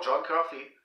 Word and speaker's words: John Coffey: Coffee, comme le café? Oui, c'est ça. C'est son nom, John Coffey. Donc, ça s'écrit pas de la même manière.